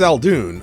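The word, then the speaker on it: Eldoon: doll this is this is Mr G uh elun Elon our client maybe you can tell us what your problem is Mr alun am I pronouncing that right all right apparently is alun I I guess like what's it called udon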